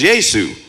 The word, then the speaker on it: Yesu: say it's in the name of Yesu, I wouldn't have a problem with that. Oh, that's cool. That's how you pronounce his name in some of the African languages.